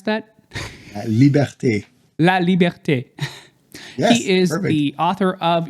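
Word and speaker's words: La Liberté: And La Libert, how do you pronounce that? Liberte. La Liberte.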